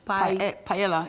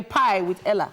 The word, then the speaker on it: paella: We're making a Spanish paella. Spanish paella. It's like a... No. P-A-E-L-L-A, if I'm not mistaken. Paella? Yes. So it's like a pie with Ella? No. Paella.